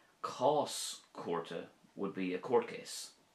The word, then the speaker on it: Cás Cúirte: Cás chúrte would be a court case. Cás chúrte.